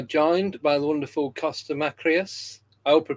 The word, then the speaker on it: Makreas: So we are joined by the wonderful Kosta Makreas. I hope I pronounced your surname correct.